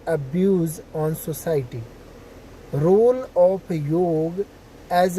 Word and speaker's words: योग: में लिखा हुआ YOGA, वो योग है, योगा नहीं है। ये अंग्रेज थे, उन लोगों ने अपना बना दिया। हम सभी भारतीय हैं, हम सभी उच्चारण कर सकते हैं, तो हमें योगा नहीं बोलना चाहिए।